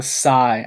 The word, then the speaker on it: sai: these sword things are called Sai s AI it's spelled I guess that's it okay well the S the sigh I don't know I just wanted to know